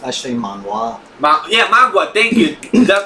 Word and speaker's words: manhwa: It's actually manhwa.